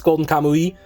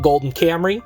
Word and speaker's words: Golden Kamui: We have Golden Kamui, as people say, but it's Golden Kamui. I've also seen people pronounce it Golden Camry, so, you know, shout out to Toyota.